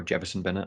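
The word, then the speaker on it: Jewison Bennette: got the likes of Jefferson Bennett on the bench, or Jefferson Bennett, I think is how you actually say his name, which I've worked out, Michael.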